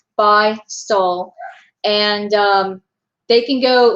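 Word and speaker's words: Beistle: It says it like right here, but it's B-E-I-S-T-L-E. No one can ever pronounce it, but it is Bystol, and they can go,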